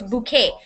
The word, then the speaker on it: bouquet: is bouquet okay bouquest it's bouquet b o u q u e t the T the T at the end of a silent of the bouquet is silent a group of Ro